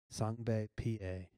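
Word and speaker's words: Sengbe Pieh: small village you say it's Natan like this sunbae pa he belonged to the Mende tribe you say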